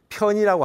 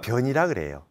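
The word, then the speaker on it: 偏: 하는게에 이게 용이에요 예 그래서 사실은 편이라고 하지 않고 전과 변이라고 발음으로는 치우칠 편이지만 변이라는 이걸 가지고 정과 편을 가지고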